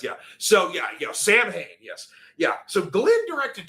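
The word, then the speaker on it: Samhain: It's pronounced Sam Hayne if you're talking about the band.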